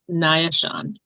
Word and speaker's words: Naashon: My first name is Naa'ishaun. Okay. And um could you spell that?